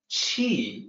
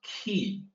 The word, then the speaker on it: Qi: pronunciation exactly the same the pinyin romanization is Qi the Q is always CH so that's cheap and careful here it's not ki q is doesn't sound